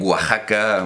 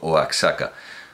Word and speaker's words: Oaxaca: manera y de otra Como México o ajaca pero que ellos dicen Oaxaca bueno y nadie dice por supuesto oaka soy partidario de la